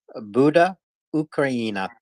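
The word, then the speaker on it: Буде Україна: so everything will be Ukraine Buddha Ukraine Buddha ukraina you nailed it the first time I'm very proud of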